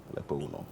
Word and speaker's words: Lekpongunor: Lekpongunor. Yeah, Am I Lekpongunor, pronouncing it yes, correct? Lekpongunor, Okay. yes. Lekpongunor.